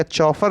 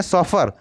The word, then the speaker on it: chauffeur: तो आप लोग इसका प्रोनाउंसिएशन भी ध्यान रखिएगा, उसे हम लोग क्या चौफर नहीं कहते, क्या कहते हैं सॉफर। तो इसकी स्पेलिंग देख लीजिए CHAUFFEUR।